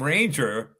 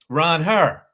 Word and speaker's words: Ranger: anglicized his name because really it should be pronounced Ronh her yeah be if and so I thought Ranger was a way that they anglicized his name